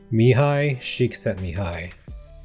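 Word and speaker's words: Mihaly Csikszentmihalyi: Mihi Shik sent me Mihi. Yeah, that's actually how you say it.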